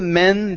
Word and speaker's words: men: uh men okay so instead of saying main okay use a short e sound one of the men the tiger attacked one